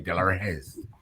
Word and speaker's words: Delarez: So you got to say it like that because it's Tony Delarez.